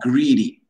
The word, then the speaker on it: greedy: Greedy like green.